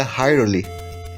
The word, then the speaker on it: Hyrule: tal Reiner chamado de hyrule com na forma mais correta de falar de pronúncia né seria Harley esse reino ele é